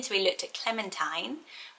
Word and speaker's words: Clementine: so we looked at clementine which is not the teen it's the tines it's quite a name